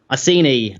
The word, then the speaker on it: Iceni: Is it I Kenny or I Senny? Iceni, sorry. Iceni. I see, yes.